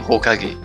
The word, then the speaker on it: Hokage: Just like in Hokage, yes. Hokage? What is Hokage again? Yes. Hokage is actually the first kanji is ki, like fire, but it's pronounced as ho.